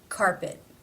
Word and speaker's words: carpet: T in this word it ends the word it is not part of a consonant cluster therefore it is a stop carpet carpet how do you